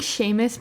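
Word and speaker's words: Seamus: So I think Sheamus McGarvey is how you say his name.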